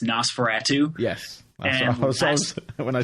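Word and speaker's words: NOS4A2: It's a license plate, and it's said phonetically, it's Nosferatu.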